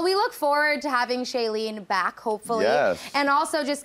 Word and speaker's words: Shailene: can we find you online so it is shayen let me spell that s h a i l n e